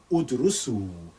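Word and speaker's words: ادرسوا: Udrusu. Now don't pronounce it alif, just there by convention.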